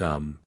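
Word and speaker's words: homme: a piece of bark he learned from darnet that it was pronounced um and in the same way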